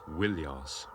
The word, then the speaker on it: Ilios: In the Iliad, Homer calls the city by 2 names, Troia and more often Ilios, originally pronounced Wilios.